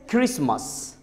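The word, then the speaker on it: Christmas: जैसे क्रिसमस, आजमा, आजमा. तो देख सकते हैं इसमें टी, क्रिसमस का टी नहीं बोला जा रहा है.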